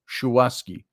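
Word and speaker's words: Shuwaski: Congressional candidate shawaski young schwaski I think it's the way it's pronounced s-h-u-w-a-s-k-i oski young said we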